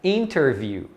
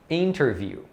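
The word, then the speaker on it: interview: né mais devagar mas na prática você vai ouvir principalmente os americanos falando sem o t por exemplo a palavra entrevista que em inglês é interviú interviú então tá vendo você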